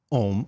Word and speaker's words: Om: is a u m om we pronounce it om and we spell it o m although the original idea was aum and that word is